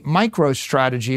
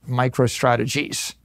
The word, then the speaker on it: MicroStrategy: Now, Now I name my company MicroStrategy. Let me tell you, for 30 years, half our customers mispronounced it, microstrategies.